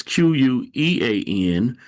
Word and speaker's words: quean: So let's go over to the other word, spelled a little bit different. It's Quean, but it's pronounced the same. Same pronounce. It says an impudent or ill-behaved girl or woman, a prostitute.